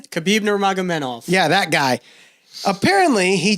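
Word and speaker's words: Khabib Nurmagomedov: Khabib Nurmagomedev.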